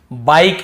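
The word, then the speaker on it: bike: ही बता चुका हूं यदि लास्ट में ई हो तो हम इ को नहीं पढ़ते हैं देखिए ई लिखा हुआ है बाइक इसे बिक नहीं पढ़ेंगे बाइक क्योंकि लास्ट में ई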